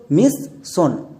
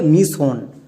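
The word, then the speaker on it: mission: আমরা সবাই জানি ইংরেজি রিডিং পড়তে গিয়ে যদি একই রকমের লেটার দুবার দেখতে পাই তাকে একটি ধরে নিই।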